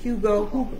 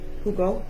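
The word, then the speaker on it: jugo: I think the J is pronounced like an H. Hugo. Hugo.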